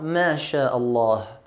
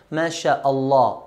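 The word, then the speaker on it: ما شاء الله: that the statement masha'Allah we should end up with the hair sound at the end Masha Allah Allah Masha Allah not mashaa allah allah but masha allah the number continues and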